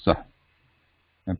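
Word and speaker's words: सह: Visarga Saha is written like this, Sah, and pronounced like Sah. But this is Saha. This is the complete consonants. Ha. Saha.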